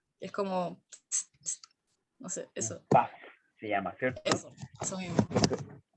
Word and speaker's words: puff: ¿Le dices PUF? Porque se escribe PUF, se escribe P-U-F-F, o le dices PAF, ¿cierto? PAF es como le digamos nosotros, pero varias veces en su vida van a escuchar que le dicen PUF también, porque es como se lee.